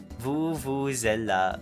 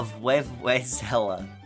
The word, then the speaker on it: vuvuzela: But basically, I ended up, mispronouncing it during Big Walk, and I called it a Vuvuzela. Not to be confused with Venezuela, an actual country that exists in the world.